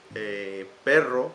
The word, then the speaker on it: perro: But perro, for example, is with two R's.